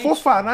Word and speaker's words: Fofana: Fofaná, eu não sei se é Fofana ou Fofaná até Exato. hoje. É isso. Não, aquele lá, É francês, você acentua o último. Acentua a última sílaba.